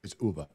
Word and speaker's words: Ove: pronounced man called what UVA I would say oh yeah I used to say ove too I mean it doesn't really matter but it's Uber yeah yeah I've already